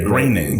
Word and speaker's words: Koenig: And you said it, and I was like, "Isn't it like the guy who writes The Simpsons?" And you were like, "Yeah, it's the same."